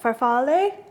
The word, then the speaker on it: farfalle: Farfalle.